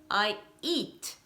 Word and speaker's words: eat: let's have a look So you are saying a CH sound (TCH) instead of a "t" sound an you are adding an "i" at the end It's "I EAT", one syllable only, practice guys, and not